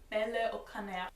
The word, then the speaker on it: Bailey O'Connor: The French say my name without closing their mouth. It is Bailey O'Connor, Bailey, Bailey, Bailey O'Connor, Bailey O'Connor. It's got a bit of a rolled R at the end, but really they make